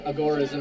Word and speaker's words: agorism: of the father of agorism or agorism actually is proper pronunciation the proper pronunciation comes from the Greek Agora which is an open market so libertarian new libertarian